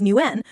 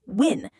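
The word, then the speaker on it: Nguyen: My friend Michael, whose last name was Newen, was called Mr. Newen every day, despite telling her it's pronounced win.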